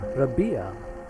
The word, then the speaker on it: Rabia: By the way, the emphasis on the second syllable. Rabia.